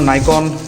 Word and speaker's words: Nikon: अभी हाँ, प्रोनाउंसिएशन के ऊपर मत जाना, इट्स आइदर निकॉन और नाइकॉन, सब अलग अलग बोलते हैं।